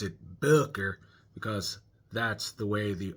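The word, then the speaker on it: Böker: about one of my favorite Booker knives, the Boer Magnum. Notice I pronounced it boiler because that's the way the O and the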